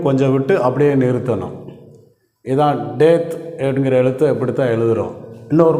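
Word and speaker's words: טית: அடுத்த எழுத்து அடுத்த எழுத்தை டெத் அப்படின்னு உச்சரிக்கிறோம் ஒன்பதாவது எழுத்தை டெத் என்ு உச்சரிக்கிறோம்.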